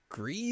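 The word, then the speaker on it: Gris: just recently came out it's called gree it's like the Spanish pronunciation of gray which I believe you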